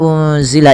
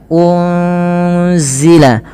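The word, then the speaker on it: أُنزِلَ: Apabila ada nun sukun bertemu dengan huruf zai, ini cara membacanya adalah nunnya disamarkan kepada huruf zai. Ya, unzila, unzila, sembari ditahan dengan 2 harakat bunyinya.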